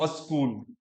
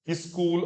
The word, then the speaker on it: स्कूल: बोलनी तो अणा, इणा, स्कूल, अस्कूल। जो शुरुआत में आपके व्यंजन आते हैं ना, तो उनके प्रोनाउंसिएशन में हम गड़बड़ करते हैं, तो अणा बोलते हैं, अणा नहीं, ना ही बोलो, ना, ना। स्कूल, स्कूल, अस्कूल, ये सब अशुद्ध पाठ है। स्कूल, स्कूल। फिर मान कू चोटो त,